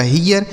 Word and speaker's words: hear: ई और ए के साथ अगर आर हो तो इसका उच्चारण ई हो जाएगा, तो इसे पढ़ेंगे ही। उसके बाद आर से र, यह लिखा आपका हियर।